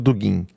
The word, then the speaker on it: Dugin: Bota só, não entendi sobre o Dugin. Se escreve Dugin mesmo, como se lê. D-U-G-I-N.